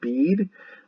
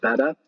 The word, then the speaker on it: Beda: A lot of people pronounce it bead, but the name is pronounced Beda.